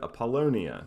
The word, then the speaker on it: Apollonia: Apollonia. That's it, Apollonia, because it's after the Greek god Apollo.